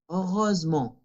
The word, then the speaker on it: heureusement: Cuando nuestra palabra no sea un verbo, no sea la conjugación en il u el, ahí sí se pronuncia ent y va a ser una nasal. Finalement, heureusement.